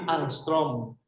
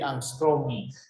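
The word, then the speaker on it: Ångström: At ang pagbigkas niyan ay hindi Angstrom. Hindi Angstrom. Angstrom. Yung A na may bilog is O. And then yung O na may dalawang tuldok ay OE.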